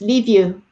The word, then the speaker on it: Liviu: It's Liviu. That's how you say it. Liviu Raducha. Is that how you say it? Leave you, like I'm leaving you.